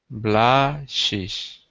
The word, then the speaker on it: blushes: Blushes. Just a Z sound at the end.